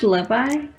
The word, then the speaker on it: Levi: you guys call him Levy he's Levi to me he's jeans I'm just gonna call him jeans from now on I I usually call him likei is pronounced leevi he's B bad ass